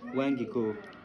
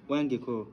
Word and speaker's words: வாங்கிக்கோ: How do you say take in India? Take. You can't say that. It will be difficult for you. No, tell me. வாங்கிக்கோ. Wangiko. சரிண்ணா வாங்கிக்கோங்க. Wangiko.